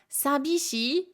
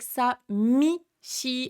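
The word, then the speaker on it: 寂しい: Euh, sabishii, vous pouvez l'entendre avec sa, mi, shii aussi. Bi ou mi, c'est le même adjectif en japonais. Euh, samishii, c'est un tout petit peu plus facile à dire.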